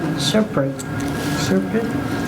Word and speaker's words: SRPEDD: Serpent. I never hear the D sound at the end.